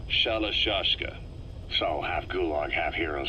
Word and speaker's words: Shalashaska: known about that because somewhere along the line shashka got stuck on the end of sriracha the gorillas were using the name amongst themselves and by the time i got to hearing about it pronunciation had wound up as shalashashka so half gulag half